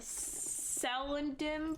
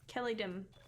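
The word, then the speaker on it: Celondim: I'm just like huh I've been that person pronouncing kelladine as a cell and dim forever so Kelly Kelly Dean Kelly dim Kelly Doom Kelly dim Kelly dim it's just Kell it's Kell not cell I'm learning this now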